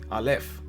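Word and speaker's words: אָלֶף: letter is obviously as I said alf you pronounce it alf this is how it looks and the next letter is Bait.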